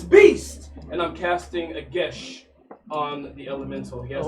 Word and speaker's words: Geas: And I'm casting a gesh on the elemental. He has to make a what? a gesh. What's the spell? It's Geas. I looked up his pronounced gesh. Yes. Online it says gesh.